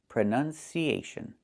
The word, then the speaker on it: pronunciation: We see the letter U there between the N's, right? That's a short sound like cup and up. Pronun, pronun. So the two first vowels are the same sound.